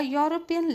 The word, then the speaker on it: European: A European lady. The word begins with E, but the pronunciation is not E.